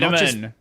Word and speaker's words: vitamin: To be fair, in Australia, you typically replace the T with a D. This is the case in a lot of words. And like you know what liid waiter liid waiter is a great example actually now that I think about it you replace the t with a d vitamin.